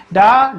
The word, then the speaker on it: ड़: डा और ढा के नीचे, ठीक है, ध्यान रहेगा, एक नुक्ता बिंदु लगा देते हैं, तो इनका उच्चारण क्या हो जाता है भाई, उनका उच्चारण क्या हो जाता है, चेंज हो जाता है ना। ये डा हो जाता है, क्या होता है, ड़ा, कड़ा, लड़ाई, ड़ा का शब्द उच्चारण होने लगता है ना।